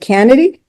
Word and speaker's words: Canady: and and um if I pronounce your name wrong, let me know. Is it is it Kennedy? You you nailed it in one, Kathy.